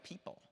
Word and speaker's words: people: So they've learned that O is a silent letter here.